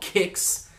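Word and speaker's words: Qix: gem i i think it's called kicks i think that's how you pronounce it q-i-x and greg from arcade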